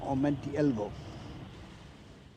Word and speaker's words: omentielvo: Ellen, Sila, Lumen, Omenti Elvo. And I definitely did not get that quite right. He puts the emphasis in Omentielvo on the second part. It's like Omentielvo, or it's not quite.